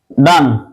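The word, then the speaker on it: done: মনে করো ডু, ডিড, ডান, এটা উচ্চারণ হচ্ছে ডন, ডান না, ডন।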